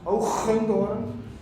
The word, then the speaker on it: Hoogendoorn: In Dutch, by the way, because I'm from the Netherlands, it's pronounced Hoogendoorn.